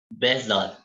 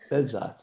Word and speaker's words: Behzad: Bezad. Is that how you pronounce it? Bezad. Bezad.